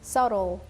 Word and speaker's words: subtle: Subtle. Yeah. Subtle, instead of B, use like D sound. And then the T is gone.